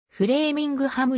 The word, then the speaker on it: Framingham: 周年を祝ったフレーミングハムの第一音節は a の長音 8 発音される正確にはフレーミングとハムの 2 号合わせた形で発音されているフレーミングハム街は